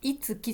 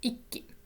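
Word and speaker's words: 一気: はい、読み方はこのいつきじゃなくて小さいつになります。一気、一気に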